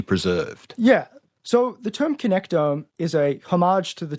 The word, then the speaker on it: connectome: And this is where we get to our whole idea, also leads us to our idea of what you call the connectome. Have I pronounced that right?